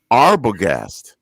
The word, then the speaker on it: Arbogast: last name uh arbogast arbogast yep that's german too okay all right and